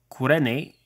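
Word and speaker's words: Κυρήνη: the city of Cyrene which I believe is pronounced something like kurene in Greek and is located in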